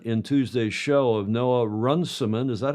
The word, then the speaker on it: Runciman: I did run it in Tuesday's show of Noah Runciman. Is that how you pronounce it?